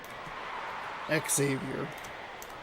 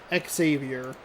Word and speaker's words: Xavier: Xavier. It's tricky with the X in front. Is it X or is it just like a Z, you know? Xavier.